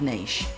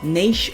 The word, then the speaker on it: niche: which is not having a clearly defined lucrative niche now niche or niche however you prefer to pronounce it and an acrobat I'm sure you've